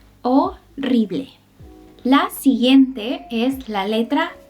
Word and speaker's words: horrible: En otros casos, no la pronuncies. Repite después de mí. Hotel, hotel, hospital, hospital. Por último, horrible, horrible.